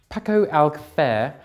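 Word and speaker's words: Paco Alcácer: And before you mention it, that is how it's pronounced. Paco Alcacer, thank you very much, because Pato says so, and he's a professional knowledge man.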